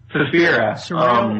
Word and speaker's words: Suspiria: How do you pronounce it? Suspiria.